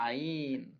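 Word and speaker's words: ع: দিকটা একটু এইভাবে বড় করা বাড়ানো এটা হচ্ছে আইন আইনের উচ্চারণ আছে আইন হলকের মধ্যে হতে গলা ছিপে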